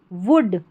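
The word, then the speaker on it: would: ओल्ड women women वुड। इसको वुड पढ़ना है। ओ यू एल डी को वुड पढ़ेंगे। एल यहां पर साइलेंट है।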